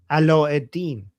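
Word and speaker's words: علاء الدين: How do you say Aladdin in Arabic? Aladdin? Ala-eddin. Ala-eddin, yeah. Ala-eddin. So, Jafar is Jafar, Aladdin is Ala-eddin.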